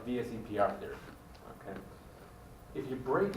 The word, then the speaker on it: VSEPR: A lot of people call it VESPR because it's very hard to pronounce that. Okay? So people just kind of reverse the E and the S and call it VESPR. Okay? The more correct way is called VSEPR therapy.